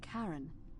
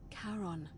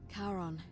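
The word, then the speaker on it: Charon: it's just as you described it only your pronunciation is a little off the name you heard wasn't Karen it was c h a r o n as in Caron the ferryman of the Dead karon who in exchange for the right coin helps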